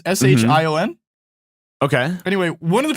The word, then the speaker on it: Shion: Then one of the people that worked on Gravity Falls, their name is I think it's pronounced Shion. It's Shion.